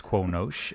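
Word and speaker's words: Qo'noS: It's Quonosh.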